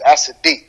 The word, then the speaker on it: As-Sideeq: doing bless Queen uh my last name is asid all right all right n asid all right so how are you doing today